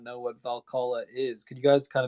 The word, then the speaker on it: Valhalla: Does that mean that Cool Cats could be early access into Valhalla? Am I pronouncing that right?